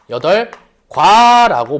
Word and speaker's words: 여덟과: 근데 얘 최종적으로 발음하면 여덟과 발음을 하게 돼요. 그죠? 여덟과 이렇게 발음한단 말이야.